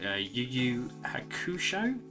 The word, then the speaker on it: Yu Yu Hakusho: So as I said, this is Yoko Kurama from Ghost Files, which I believe is pronounced Yu Yu Hakusho in its original anime title.